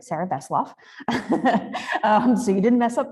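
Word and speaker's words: Sarrah Vesselov: uh yeah so um got my name right pronunciation was perfect Sarah voff so you didn't mess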